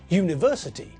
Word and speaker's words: university: With university, when we say the word, we pronounce it with a y as the first letter.